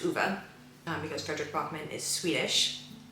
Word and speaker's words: Ove: I learned that his name is pronounced Uwe, because Fredrik Backman is Swedish.